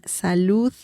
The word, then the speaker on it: salud: Remember the sound at the end when saying salud. Okay, so that's an important sound.